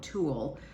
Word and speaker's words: Tulle: It's Prada lipstick in nude, and then I have on the U Beauty in Tulle, not T-O-O-L, Tulle, T-U-L-L-E.